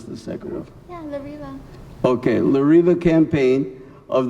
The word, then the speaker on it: La Riva: She is here today to represent the La Riva, you got to pronounce the second one. Yeah, La Riva.